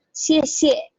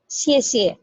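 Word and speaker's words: 谢谢: Nah, yang tidak ada nadanya seperti ini, itu artinya dia dibacanya nada kelima, bacanya ringan saja. Misalnya kayak gini ya, xie xie. Jadi xie yang terakhir itu ringan, pendek saja, singkat. Ya, jadi xie xie, bukan xie xie, enggak, tapi xie xie.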